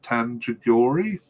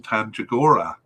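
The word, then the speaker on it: Tandjigora: the squad uh merlin merlin tangiori and i'll say that again because i said it wrong merlin tanjagora last appeared for the national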